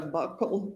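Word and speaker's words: buccal: Now, um can you tell the jury what a bugle swab is? So, a bugle swab or a buckle swab depending on different people say it different ways. It's spelled B U C C A L and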